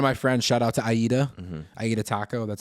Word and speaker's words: Aida: That's how she tells everybody how to pronounce the name because it's AIDA. Everybody always thinks Ada, but it's Aida Taco.